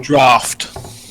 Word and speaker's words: Draught: It is some sort of I believe it's pronounced Draught. Draught. Dro. Draft. Draft. Okay, thank you.